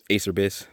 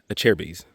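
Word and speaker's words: Acerbis: this name the pronunciation Acer bis Acer bees but it's a chair bees like a chair of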